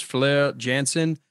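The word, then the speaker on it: Floor Jansen: They've gone through two other lead singers, but the latest one, her name is Fleur Jansen. It's spelled floor for us Americans, F-L-O-O-R, but Fleur Jansen, or probably Jansen, and just ridiculously trained.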